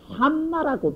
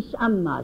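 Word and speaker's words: 甚麼: 신마 요걸 옛 노인들은 꼭 까다롭게 산마라고 발음하라 그래서 산마. 근데 이 신마라고 하는 게 중국 넓은 땅에 사투리가 달라가지고 다 같은 중국인이라도 어떤 지방에 수이 샴마, 시신마를 수이 샴마라고 발음하는 지방이 있고 수이 쇼마라고 발음하는 자리가 있습니다.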